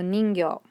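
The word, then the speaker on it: にんぎょ: one is sorry it's ghee plus chi sayo and this sound together makes gyo so ningyo mermaid or merman you can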